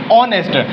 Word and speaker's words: honest: Everybody read this word honest, but he is not a honest because H is silent, so we read honest.